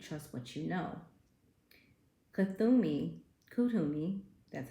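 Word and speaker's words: Kuthumi: answer you seek trust what you know kthumi kutumi that's how it's pronounced is an ascended master who appears as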